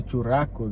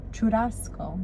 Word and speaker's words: churrasco: What's a churrasco you made?